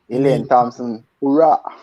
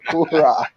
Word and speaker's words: Elaine Thompson-Herah: And Chris, I have to call her, pronounce her name the way Snoop Dogg call her. Elaine Thompson-Herah. Hurrah.